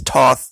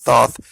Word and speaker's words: Thoth: It's Thoth, Thoth, basically is how it's pronounced.